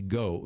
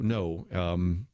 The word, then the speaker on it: Ngo: And Antifa's attack was on Andy Go. No, it says NGO. Most English-speaking people pronounce that Vietnamese word no, so I'll just say it that way.